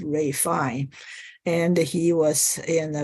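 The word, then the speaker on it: Ralph Fiennes: that's his name but his name is pronounced as Ray fine and he was in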